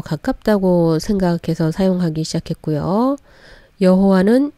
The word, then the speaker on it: 여호와: 여호와는 영국식 발음에서 온 것이라고 했었는데 최근 연구한 학자들에 의해서 여호와가 오히려 더 원래 발음에 가깝다는 발표도 나오고 있기는 합니다.